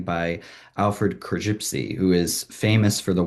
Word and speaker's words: Korzybski: Well, first of all, his last name is pronounced Korzybski, Alfred Korzybski.